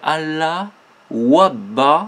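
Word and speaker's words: Allah-u-Abha: Là, c'est Allah Wabba, c'est-à-dire qui s'écrit, hein, A2LAH, qui veut dire Dieu, apostrophe U, apostrophe U, ABHA, et qui est propre au mouvement d'Abdul Baha, Baha'ullah, etc.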